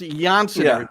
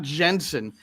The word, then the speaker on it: Jansen: he is Pascal Janson that's the way it's pronounced Janson Not Jensen even though he's a Brit he's a Brit